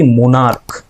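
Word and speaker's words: monarch: যেমন দেখো ধরো এই যে সি এইচ আছে কিন্তু এর উচ্চারণ কি মোনারক ক এর উচ্চারণ কে এর উচ্চারণ তার জন্য আমরা এস এড করছি মোনারক ঠিক আছে স্টোমাক সিএইচ আছে কিন্তু উচ্চারণটা হচ্ছে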